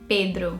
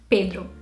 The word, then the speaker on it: Pedro: And in Brazil, we say it Pedro. And over here, you'd probably get Pedro, I don't know. But yeah, in Portuguese, it's definitely Pedro. It's a very closed E sound, Pedro.